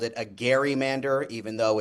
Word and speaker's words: gerrymander: Gerrymander, even though it's pronounced gerrymander today, but the origins of this